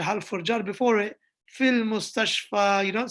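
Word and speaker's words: في المستشفى: Fil mustashfa, you don't say fil mustashfi.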